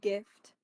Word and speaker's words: GIF: for sharing a gift Jiff whatever Oh I thought you said gift with a yes it's spelled GIF so it's GIF In This Moment okay